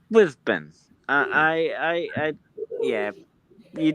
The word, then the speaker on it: Brisbane: Well, is it's Brisbane. I I I Yeah, you don't hear many people say Brisbane. It's Brisbane. Yeah. Yeah. You don't say the A. You don't really say the A like you would.